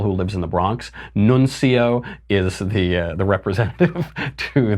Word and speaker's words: nuncio: what the word nuncio means some people are pronouncing at Nunzio Nunzio is the name of my Italian uncle who lives in the Bronx nun Co is the the representative to the United States